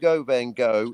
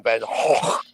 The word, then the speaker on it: Van Gogh: Well, you can either go Vin- Van Gogh. It's just levels of pedantry. Van Gogh, but then Van Gogh if you're Dutch.